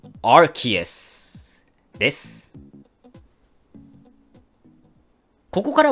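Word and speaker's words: Arceus: なんですが発音は rts です本当は日本語と同じように rcs という風に発音する予定だったのですがアメリカのアニポケのナレーターさんが間違って発音したことからまあ公式で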